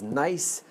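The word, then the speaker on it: gneiss: This rock is nice. The name of the rock is Nice Silent G. That is how it's spelled. That's how it, and you pronounce it.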